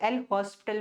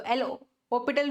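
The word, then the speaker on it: L'Hôpital: जिसे बहुत से बच्चे एल हॉस्पिटल भी बोल देते हैं। पर हॉस्पिटल नहीं बोलते। एच साइलेंट होता है। ओके? तो एल हॉपिटल रूल की हेल्प से हम क्या करेंगे?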